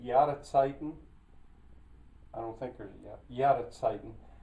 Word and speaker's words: Jahreszeiten: I don't think there's Jahreszeiten. I think I pronounced that with a W.